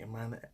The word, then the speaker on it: Imane: to do a pronunciation Iman an Iman an i sound very French and very Canadian there